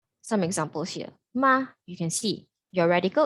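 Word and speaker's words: 马: on the right pronounces it's pronounced as ma ma it means horse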